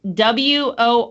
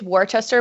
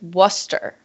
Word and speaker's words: Worcester: do on this one so it's w-o-r-c-e-s-t-e-r it's a place in England yes okay I always want to say it's warchester but it's Worcester it's yeah it's what